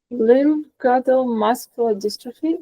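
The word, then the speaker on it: limb-girdle muscular dystrophy: Uh could you please share your journey with lial musculardrophe if I pronounce it right because I don't know uh and how it has shaped your personal and professional life. Yeah. So, you did pronounce it correct.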